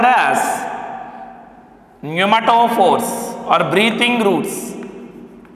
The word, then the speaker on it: pneumatophores: Respiratory roots are also called as pneumatophores or breathing roots. Pneumatophores. What it is? Pneumatophores. You please remember and pronounce it.